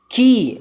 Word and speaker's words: quay: വൈ ആണ് കീ എന്ന വേർഡിൽ QUAY കീ എന്നാണ് പ്രൊനൗൺസിയേഷൻ.